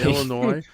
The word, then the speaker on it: Illinois: uh ill Illinois oh that word always confuses me Illinois Illinois yeah I keep forgetting the S is silent and we'll be getting